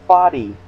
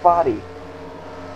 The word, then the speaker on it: Foddy: This is Foddy. I've been pronouncing it Fod all this time. It's pronounced Foddy.